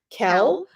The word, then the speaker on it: Cel: world Cell, CEL, and I honestly have never heard it pronounced. I've read it so many times, and in my head it's Cell. I suppose if you wanted to put a hard C on it, you could say Kel, or if you wanted to put the Italian twist on it, it might even be Cell.